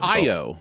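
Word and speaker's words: Ayo: from the bear whose name I'm intimidated to pronounce IO it's IO yeah it's IO um I love her so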